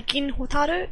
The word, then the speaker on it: Gin Hotaru: The names are Gin Hotaru. It's said in Japanese pronunciation, so the vowels are a bit different.